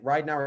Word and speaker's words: Ridenour: And now, again, Ridenour is how you say it, but I went through prep just Ridenour because I was like, I'm not going to correct everybody.